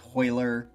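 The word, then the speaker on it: Royler: My name is like, and you don't pronunciate the R, so it's Hoyler, Hoyce, but when you see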